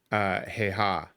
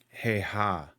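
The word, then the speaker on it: Häyhä: So the Simo, hey ha. It may take me a little bit to pronounce that correctly.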